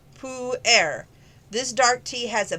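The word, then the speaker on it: pu-erh: per a and that's spelt p p-u-e-r-h pronounced pou air this dark tea has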